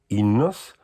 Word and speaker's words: Enos: mas para torná-la curta, afinal o Inos, escrito Enos, pronuncia-se Inos.